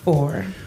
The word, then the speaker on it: Phor: Four. His name is Four, and it's spelled Phor.